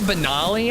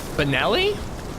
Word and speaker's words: Benelli: It's like a Benali. I believe that's it's based off of the Benali shotgun. Benelli. Benali. Benelli. Benoli. Am I pronouncing that wrong? That's so unlike me. Like Ellie, Benelli.